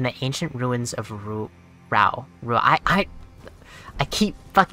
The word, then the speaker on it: Rauh: ancient ruins of Ru ra Ru I I I keep mispronouncing it as Rua instead of RA I've been doing that